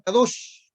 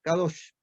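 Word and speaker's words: קדוש: con tres cosas es una palabra que se pronuncia kados kados y esta palabra del Santo de Israel que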